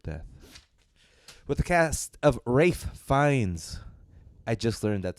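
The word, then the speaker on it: Ralph Fiennes: dessert could equal death with the cast of rafe finds I just learned that's how you pronounce his name but it's spelled Ralph fiends I said Ralph finds Rafe finds as a chef slowik Anya Taylor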